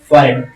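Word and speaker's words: forehead: उनको जब इकट्ठा किया गया तो उसकी प्रोनाउंसिएशन क्या होगी? फॉरेड फॉरेड और इसी तरह एक और वर्ड्स इसको हम कवर्ड कहते हैं अलमारी।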